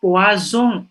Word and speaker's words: poison: Par exemple, mungkin di SMA sudah diajari gurunya poisson, P-O-I-2-S-I-N ya, I-O-N ya, artinya ikan. Kalau S-nya satu, poison, S-nya antara dua huruf artinya racun.